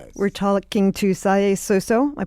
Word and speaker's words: Salieu Suso: We're talking to Sai Sooso. Am I pronouncing your name right? Can you say it for me? Saluso. Saluso.